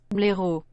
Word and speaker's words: blaireau: Blaireau.